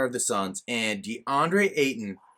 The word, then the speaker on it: Ayton: the sons and deandre ayton his last name sounds like satan so like there's a